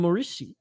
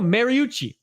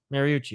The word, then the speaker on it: Mariucci: collar drink in um mauricio how do you say that more oh mariucci mariucci i should have known